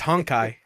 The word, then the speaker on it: Honkai: rail there's no way it's hot guys it's honkai yeah oh what a dumb